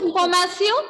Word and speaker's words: information: It is having same spelling in French also, but pronunciation will be informatio. Okay, so I hope you understood. In French, when we have letters T-I-O-N together, pronunciation will be C-O.